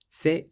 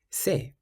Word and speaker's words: c'est: If you see the letter C in front of an E or an I, then you pronounce it like an S. For example, c'est.